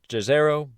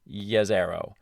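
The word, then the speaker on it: Jezero: should be in the yazero crater it looks like it should be pronounced jazero but it's yazero yeah one of those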